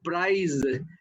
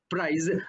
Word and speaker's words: prize: You cannot say, for example, for the word prize, P-R-I-Z-E, price, but sometimes pronounced as price, which is the cost.